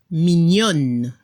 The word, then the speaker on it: mignonne: En francés, mignon, mignonne. Se escucha la N al final y no se pronuncia la E al final.